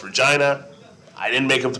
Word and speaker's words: Regina: And by the way, in America, we would in Canada it's pronounced Regina.